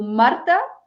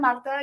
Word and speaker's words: Marta: So I'm Marta, yes. Kind of got used to people calling me Marta in the UK because they just can't pronounce the R very often.